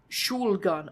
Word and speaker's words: Shulgan: Shulgan al-Sul-Kak, Simon pronounced from the sidelines. There's a liquid in the first syllable of Shulgan, and the R is rolled in Dor.